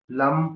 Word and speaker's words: लम: एल ए एम लम को धीरे-धीरे चट करना है आपको। धीरे-धीरे प्रोनाउंस करना है। ठीक है? लम ऐसे एकदम नहीं लम नहीं पूरा खींचते हुए।